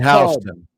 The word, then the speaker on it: Houston: So she lives in Houston, Texas, and there actually is a town in Ohio spelled exactly the same. And they pronounce it Houston. It is. Just like Houston Street in Greenwich Village.